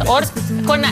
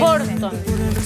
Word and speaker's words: Horton: ¿Orton o Horton? Yo creo que es Orton. ¿Es Horton? Horton dicen por ahí. Horton. Ah, como que la H se... Como la H es J. J, se transforma en J.